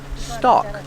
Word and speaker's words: stalk: a stalk of corn remember with stock the l is silent stock this is a corn